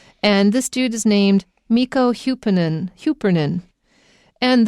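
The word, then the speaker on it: Mikko Hyppönen: mikko hupanen hupernin and the way his name is spelt doesn't sound like how it sounds because it's not using english representation to represent these sounds it's using finnish representation so these are how the finnish people use these letters to represent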